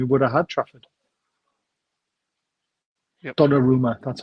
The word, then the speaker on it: Donnarumma: Donnarumma, that's how you pronounce it.